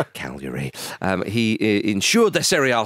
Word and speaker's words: Cagliari: Claudio Ranieri has retired from football management after leaving Cagliari, as I believe it's pronounced. Cagliari.